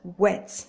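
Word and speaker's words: whet: It is pronounced wet. The H is silent. The H is not there when you're pronouncing it.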